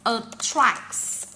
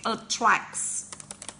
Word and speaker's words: attract: Her song really attracts. Okay, attracts. Don't pronounce the word as attract.